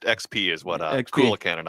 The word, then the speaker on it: Xp: Uh it's XP. Uh it was pronounced XP is what uh Kan and I pronounced it as.